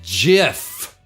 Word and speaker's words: GIF: was revealed that the creator of the gif pronounced it jiff what the [ __